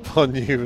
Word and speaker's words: von Neumann: Von Neumann is pronounced von Neumann in German.